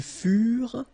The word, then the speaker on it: furent: Ils furent. Elles furent. Keep in mind that ENT, you know, the ending for the plural form is never pronounced, though. Furent.